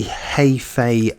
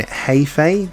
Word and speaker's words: Hefe: boss and it doesn't so I've been saying hey Fay just to give you an idea of how it's pronounced considering the way that